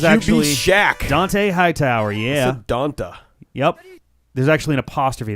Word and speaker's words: Dont'a: Donta. Yep. There's actually an apostrophe there, I believe. Or he goes by... So he pronounces it Dante. Dante. But it's spelled Donta.